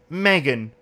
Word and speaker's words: Megan: So, just to let everyone know, in fucking Wales, where I'm from, this name is pronounced Megan. It's Megan Anderson. whenever I talk about a Megan Anderson fight, there's always people in the comments that say, it's fucking Megan. It's Megan. It's not Megan.